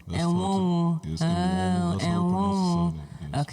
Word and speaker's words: Enwonwu: Enwonwu. Enwonwu. Yes, Enwonwu. That's how I pronounce his surname.